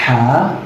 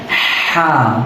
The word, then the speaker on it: ه: Create کر سکے گا۔ تو یہ آپ دیکھیں، یہ ہے ہا۔ میرے منہ کو آپ اگر دیکھیے گا غور سے، اور حلق کو دیکھیے گا میں کس طرح یہ تلفظ پڑھ رہا ہوں، ہا۔ اس کے ساؤنڈ کو بھی غور سے سنیے گا، ہا۔ یہ ہے حرف الحا،